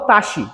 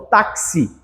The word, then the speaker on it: táxi: palavra táxi palavra táxi eu falo eu não falo tashi eu falo táxi então eu escrevo táxi mas eu pronuncio tá que se então eu tenho quatro letras cinco fonemas fechou entendeu isso aqui